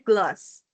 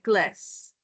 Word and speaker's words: glass: Kalau aksen Australia bacanya gloss. Tapi kalau aksen American bacanya glass.